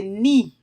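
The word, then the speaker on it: knee: Là prononcer mot ça encore K an, li silence devant mot ni, qui vle di genou, ok?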